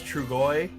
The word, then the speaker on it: Trugoy: It's like Is it Truyo or something like that? I can't remember. Close, very close. I can't remember how to say his name. I always pronounce his name wrong, or I think I do. It's Trugoy.